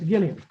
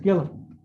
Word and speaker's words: Gillum: Gilliam. Or Ms. Gillum, do you pronounce Gillum or Gilliam? Gillum? Ms. Gillum.